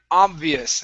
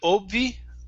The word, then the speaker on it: obvious: Instead of cold, the L is silent. It's could. Could. There you go. Okay. Next is the word obvious. Instead of obvi, obvious.